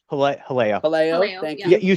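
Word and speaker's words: Jaleo: Haleo. Thank you. Yeah, you said it right. Haleo.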